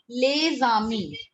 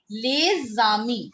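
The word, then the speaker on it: les amis: Lezami. Lezami. Otherwise, if we individually pronounce this word, this is Ami. A-M-I-S. Lezami. But if we put lay before it, together they both become lezami.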